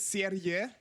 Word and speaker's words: Serie: I mean, you can pronounce it as Serie, which means series. Like a Serious? series of no series, like Oh, a series. like a movie series, or although it's not. I mean, Serie. That's how you would pronounce this in German. Is Serie.